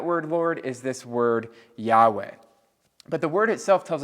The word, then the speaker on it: Yahweh: it's we pronounce it Yahweh but we really don't know how to pronounce it because the original four letters were just consonants and they don't actually have vowels and so the actual